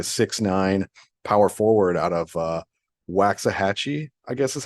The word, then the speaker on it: Waxahachie: He's like a 6'9" power forward out of Waxahachie, I guess is how you say it, Texas.